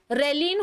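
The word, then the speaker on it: ghrelin: तो हमारी बॉडी में एक स्पेशल हार्मोन होता है रेलिन हार्मोन. G और H इसमें साइलेंट है.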